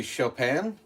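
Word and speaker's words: Chopin: It's either going to be chopan, which is spelled like chopping. C H O P I N.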